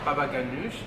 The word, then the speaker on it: baba ganoush: It's almost like a, like some tahini, but the baba ganoush or baba ganoush. It's baba ganoush, but it's like ganoush.